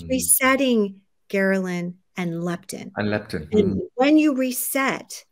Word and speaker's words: ghrelin: So when you can reset ghrelin, it might be called ghrelin, I'm pronouncing it. No, I think that makes me remember. It's ghrelin, you know?